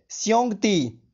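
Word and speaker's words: xiongdi: इसको चाइनीज में बोलेंगे श्योंगती।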